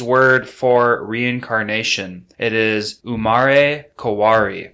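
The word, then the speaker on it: umarekawari: be the japanese word for reincarnation it is umare kawari spelled u-m-a-r-e-k-a-w-a-r-e r-i sorry that's a long word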